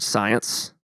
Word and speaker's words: science: Like the word science is a silent C. Otherwise it'd be science, like scone.